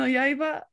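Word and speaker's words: 刃: Yeah, it's a rare pronunciation of that kanji because normally you just say like ha, you're like ha no yo, which is like the blade, but they wanted to do Yaiba.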